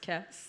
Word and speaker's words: Kees: Your name is Kees. Yeah. Pronounced Kess.